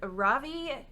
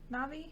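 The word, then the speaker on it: Na'vi: So my number 2 is Ravi River Journey. Am I saying it right? Navi?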